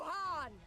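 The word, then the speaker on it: Khan: She calls for a new Han. Oh, the K is silent, not the H.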